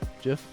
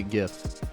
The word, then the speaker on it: GIF: the following gif gif jiff how do you say it i say a gif my wife says it jif i think it's gif but if you look